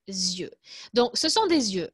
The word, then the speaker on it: yeux: de dieu vous savez qu'en français les yeux se prononcent différemment au singulier au pluriel donc au singulier ça se prononce un oeil et au pluriel des lieux donc ce sont des